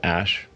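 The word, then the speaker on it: Æ: letter X and then the AE is like pronounced ash yeah and then below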